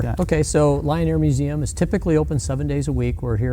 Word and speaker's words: Lyon Air Museum: media um so uh Lion Air Museum spelled with a y l y o n Air Museum uh